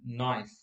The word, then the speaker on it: knife: we know there are many words which have certain letters but those letters will not be pronounced in red so example if we look at the word knife you know when we